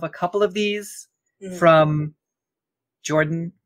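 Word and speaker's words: Jorphdan: I have only heard of a couple of these from Jordan, PH is silent, on YouTube, one of my favorite lore tubers.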